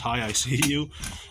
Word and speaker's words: Hiseeu: Is by Hiseeu, which is spelled just like it sounds, Hiseeu.